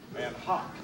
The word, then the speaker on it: Van Gogh: Van Hock.